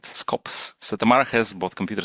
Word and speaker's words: SKOps: It's SKOps, right? Ops, we call it. Okay. I don't know. People can pronounce it differently, maybe. Okay, so we will stick to your way of pronouncing it, SKOps.